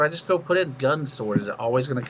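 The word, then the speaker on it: Gun × Sword: a habit like gunnex sword i know it's gun sword but i just have a habit of just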